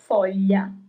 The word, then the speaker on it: foglia: The solution is foglia, leaf, foglia.